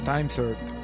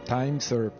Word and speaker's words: time served: ¿Cómo se pronuncia esto, Dani? Time served. ¿Eh? Time served.